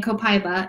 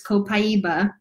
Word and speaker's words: copaiba: beat copaiba which by the way I've been mispronouncing all this time I've been saying copaiba it's copaiba my bad sorry about that it also interacts